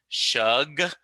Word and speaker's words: Schug: and so and so I'm looking at yours like, well, it's Shug, like Yeah. it's sh and hug.